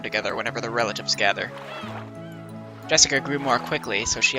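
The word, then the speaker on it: 朱志香: same kind of weird name anyway that is pronounced Jessica G's dad's older brother's daughter that older brother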